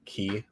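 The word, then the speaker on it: quay: by the way uh it's actually kind of an interesting uh pronunciation of key because it's q a y like q a y and you say it like key like a key like ke y it's kind of we weird but it's pretty interesting any went back to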